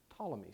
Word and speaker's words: Ptolemy: the ancient Greek scientists Ptolemy spelled with a p right and by theologians